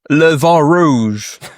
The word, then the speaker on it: Le Vent Rouge: Et du coup, on va parler de d'un jeu avec un titre français mais qu'on se doit prononcer avec un accent anglais parce que le projet est porté par des anglophones. Alors, ça s'appelle le vent rouge, hein.